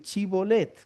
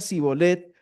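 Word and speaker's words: shibboleth: Efraín no pueden decir chibolet. Entonces los de Efraín, perdón, los de Sí, los de Efraín no chibolet, sino que decían cibolet." Y él decía cibolet porque no podía pronunciarlo correctamente.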